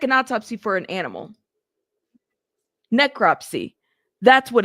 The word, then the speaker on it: necropsy: Is it necrepsy?